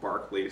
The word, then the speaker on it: Berkeley: and Hume and Archbishop Berkeley. I've heard it pronounced Barclay sometimes. I think Berkeley's right.